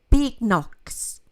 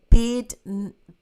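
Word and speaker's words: Badenoch: The new leader, Kemi Big-Knox. Sorry, not Big Knox. Bed-Notch.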